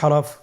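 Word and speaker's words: حاء: পরবর্তী হরফ আমরা যেটা শিখবো সেটা হলো হা। হা এর মধ্যে কোন নুক্তা আমরা দেখতে পাচ্ছি না। হা হরফটি কিভাবে উচ্চারিত হবে? হা হরফটি উচ্চারিত হবে কণ্ঠনালীর মধ্যখান হতে।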